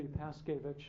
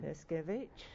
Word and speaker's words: Paskewicz: I know, it should be Paskewicz. Paskewicz, yes.